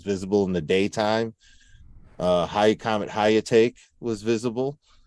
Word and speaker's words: Hyakutake: Comet Hyakutake was visible. Hyakutake.